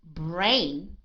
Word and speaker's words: brain: So in the word brain, it is a long vowel sound, long A sound, right?